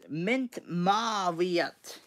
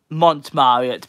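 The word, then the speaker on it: Montmartre: Mint Marriott. Yes, I think that's how you pronounce it. And Fabled United got it. It's not Mint. Mont Marriott.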